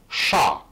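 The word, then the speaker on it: chat: армянская гата греческая гато ша французское Обратите внимание французский код читается Ша но если не исключать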